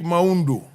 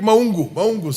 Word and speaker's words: Maungu: The Honorable Dick Maundu. Dick. Honorable Dick Maungu, sorry. That is the correct pronunciation. Yeah, Maungu.